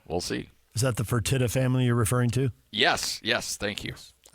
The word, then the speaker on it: Fertitta: Is that the Fertitta family you're referring to?